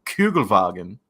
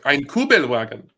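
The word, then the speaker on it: Kübelwagen: turns into a Volkswagen koug vagen C Fu I mispronounced it I mispronounced it yes like kuel wagon um and yeah they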